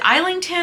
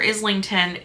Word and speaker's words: Islington: few by James uh is it isington or Islington goodness I see so many people pronounce it both ways to me it's isington but I don't know